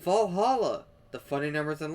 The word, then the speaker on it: VA-11 Hall-A: The name sounds silly and a bit hard to pronounce. VA-11 Hall-A. Good thing it's actually called Valhalla.